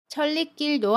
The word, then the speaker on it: 천리: 발음 해요 할는 우리 그럼 이제 예문 보면서 발음 연습 해 볼게요 천리길도 한 걸음부터 여기에서 전 니를 볼게요 천에 받침이